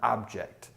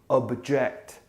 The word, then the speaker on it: object: your smartphone is an object then also you would say something to disagree with and that would be object you'd almost put a you in here object spelled the same but